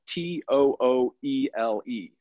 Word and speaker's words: Tooele: It's spelled T-O-O-E-L-E. It's pronounced Tooele.